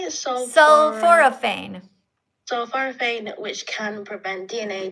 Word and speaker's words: Sulforaphane: Sulforaphane.